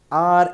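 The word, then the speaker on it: hour: Next है he went dash आर एगो। सो यहाँ आर दिया गया है, इसमें एच जो है साइलेंट है।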